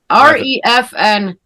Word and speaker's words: Refn: R-E-F-N. Nicholas Winding Refn. Refn. Okay, I didn't know how to pronounce that last name.